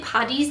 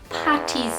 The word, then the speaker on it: Paddy's: it can be Patrick's Day, St. Patrick's Day, St. Paddy's Day, Paddy's Day, but it is never Patty's Day.